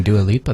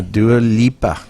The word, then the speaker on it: Dua Lipa: castration oh yeah jeez just changed yeah nice pronunciation on do a lipa though i did do a lipo two lips yeah do a lipa okay well let's start with do alipa since